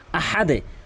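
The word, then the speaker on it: أحد: আহাদ বলে আহাদ আহাদ এখানে মারাত্মক লেভেলের দুটি ভুল করে থাকে একটি হচ্ছে এ বড় হাকে ছোট হায়ে উচ্চারণ করে আহা বলে আহা আরেকটি ভুল করে হল আহাদ হাদ বলে এখানে হাদ কখনোই বলা যাবে না কোনভাবেই বলা যাবে না এখানে আহাদে বলতে হবে আহাদে নিয়ম রয়েছে।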